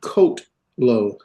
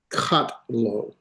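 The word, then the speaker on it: קָטְלוֹ: One sound coat low, not katlo or katalo.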